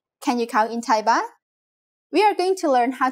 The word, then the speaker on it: baht: how we could answer this question by counting baht in Thai In Thailand the currency is called baht Please pay attention to this word's pronunciation.